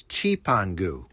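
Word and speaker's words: Cipango: But back then, it was written on the map and the Europeans referred to it as Chipangu, which is spelled c i p a n g o.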